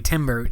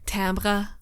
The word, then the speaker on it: timbre: the music theory absolutely timber uh it's actually pronounced like tamra or something and i'm not going